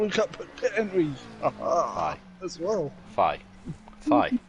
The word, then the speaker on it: Thijs: Thigh. As well. Thigh. Thigh. It's thigh. There's no. Forget the S, so it's thigh. It's just thigh.